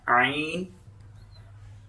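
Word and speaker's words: ع: So middle throat, ain. Ain. Ha. Ha. It will pronounce from middle throat.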